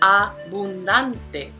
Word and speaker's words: abundante: Now, in Spanish, if we break it down syllable by syllable, we get abundante. And we see that this is a palabra llana because the prosodic accent is on the second to the last syllable.